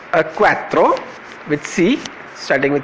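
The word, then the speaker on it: six: And C, see, note here, it's not 6 like in English, the X is not pronounced and I becomes a bit stressed, C, quatre, sank and C.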